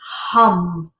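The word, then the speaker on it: Ham: So the mantra that is associated with this is hum. H-A-M, but it's pronounced H-U-M-N-G. Hum, hum.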